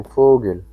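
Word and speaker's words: Vogel: পগেল এই দেখছেন ফগেল পাও উচ্চারণ আপনার অনেকটা যেমন ধরেন এফ তো আপ ইংলিশ এফ আছে ঠিক আছে এটাকে আপনিও এখানে এখানে তারা বিকাফাও বলে আপনাকে এটা ফোগেল ফগেল বলে পাখিকে তারা ফোগেল বলে ঠিক আছে ফগেল পাখি আরেকবার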